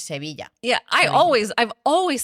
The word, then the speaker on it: Sevilla: In English, it's Seville, but in Spanish, it's Sevilla.